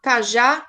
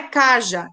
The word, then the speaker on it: cajá: Cajá, cajá, vatapá. Então, como é que eu sei que é oxítona? Porque a última sílaba é mais forte, ó. Cajá, não é caja, é cajá.